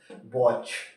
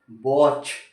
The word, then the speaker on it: watch: वॉच, WATCH, इसको क्या पढ़ते हैं हम, वॉच, टी साइलेंट।